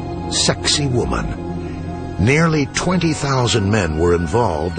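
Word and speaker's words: Sacsayhuamán: incredible feats, astonishing temples like Alante Tombbo and this one with an Incan name provocatively pronounced sexy woman.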